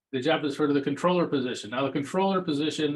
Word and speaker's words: comptroller: Although it used to be pronounced the same, it's just controller, but anyway.